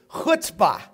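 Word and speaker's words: chutzpah: to Lemonade talk about that today number three hutzpah you know what I pronounce that but how can you write it c-h-u-t-z p-a-h it's a New York Yiddish phrase hutzpah risk taker you got to be a gambler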